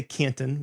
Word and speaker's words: Canton: kin we didn't say Canton we didn't pronounce the T right if I go